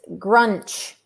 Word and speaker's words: Grunch: band the grudge well it's not grunge it's it's grunch like like wrench but not grinch it's like grunch